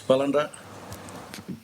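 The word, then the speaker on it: Balanda: I can and and please uh correct me if I'm pronouncing this incorrectly I know that um uh myself as a Balinder is that right? Uh yes, Palinda. Belinda, um as a as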